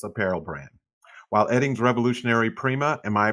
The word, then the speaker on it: Prima: and fashionable fitness apparel brand while eddings revolutionary prima am i pronouncing that correctly very good prima antibacterial fabric was originally created to fight odor